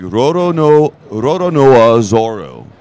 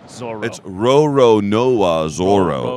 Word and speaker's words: Roronoa Zoro: It's like Roronoa Zoro. It's Roronoa Zoro. So it's like lots of different O sounds in there.